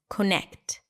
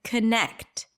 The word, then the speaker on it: connect: is the primary stress is it Connacht or is it connect raise your hand if you the second one and if you're raising your hand right now on the street or in the car with your kids then you're absolutely right it's the second syllable connect longer louder higher in pitch but if we were